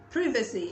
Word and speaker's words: privacy: Privacy is pronounced privacy, of course, in British English, which I always talk about because I am tilted more towards British English because of, you know, that history.